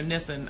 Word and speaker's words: Nissen: Nissen says, yep, everyone does rhymes with kissing. So Nissen, okay.